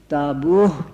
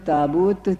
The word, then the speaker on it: تابوت: تابوت میں رکھی ہوئی، تو اس کا تلفظ مدینہ منورہ کے ڈیالیکٹ میں تابوہ ہوتا تھا، آخر میں ہے کے ساتھ، اور مکہ معظمہ کے لوگ اسے تابوت تے کے ساتھ پڑھتے تھے۔ اس پر کمیشن کے